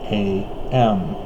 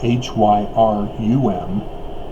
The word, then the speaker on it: Hiram: And the reason why is Hiram is the second son, and it's spelled Hiram. Several court documents testify to this, that it's not Hyrum as we currently know it in the church. It was Hiram.